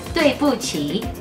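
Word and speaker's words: 对不起: La Q no se pronuncia como queso o kiosco, no, no, no. La Q se pronuncia como chicken leader. Así que decís tuei pu qi. Entonces, ¿cómo se dice perdón en chino? Tuei pu qi. Cuarto tono, tercer tono.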